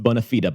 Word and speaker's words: bona fide: bona fide conservative uh properly pronounced bonafida by the way to your